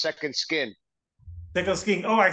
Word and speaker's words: Sekond Skyn: just to correct you a little bit it's pronounced Second Skin second sking oh I said second Sky oh my God yes it's all good though